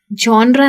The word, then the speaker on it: genre: इसको कुछ लोग कहते हैं जॉनरा, कुछ कहते हैं जॉनरा। जॉनरा नहीं कहते, इसमें जो जी है उसको प्रोनाउंस करते हैं ज, जॉनरा। ये एक्चुअली इंग्लिश का वर्ड नहीं है, वैसे तो फ्रेंच का है पर अब इंग्लिश में आ गया है।